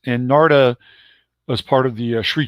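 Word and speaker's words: Narada: They call it Narda is how his name's pronounced. And Narda was part of the Sri Chinmoy community, the Indian mystic, who was kind of the meditation leader in the UN.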